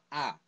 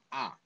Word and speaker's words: a: with a PS a ah not pronounced a it's pronounced ah then you have the